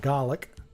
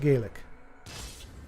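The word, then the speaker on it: Gaelic: delay too so um Scottish gelic G GIC or Irish GIC gaic okay so uh so all right all right so Scottish pronounce it GC and Irish pronounce it gaic I'm trying I'm trying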